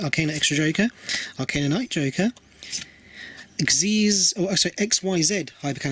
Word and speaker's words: Xyz: Pronounce it as if it was a word, because it's a word that is spelled XYZ, so Xyz.